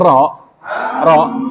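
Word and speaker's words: ر: Sebenarnya ro, ini aslinya dibacanya ra ya, ra gitu. Memang. Hanya saja hampir semua ro yang berharokat itu sifatnya apa? Tebel, tafkhim. Jadi lidahnya diangkat nih belakangnya. Nah ini yang mengakibatkan suaranya berubah kayak seakan-akan apa?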